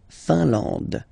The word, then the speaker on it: Finlande: La Finlande, I-N here, nasal, un. A-N, nasal, en, and then D, final E, not pronounced. La Finlande.